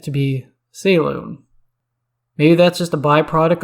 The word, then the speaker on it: Selûne: up on such things but that's the proper pronunciation and i'll do my best not to slip into old habits titles salone goes by the following titles our lady of